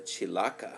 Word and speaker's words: chilaca: have lined up is called the chilaka i think that's how it's pronounced c-h-i-l-a-c-a and when dried it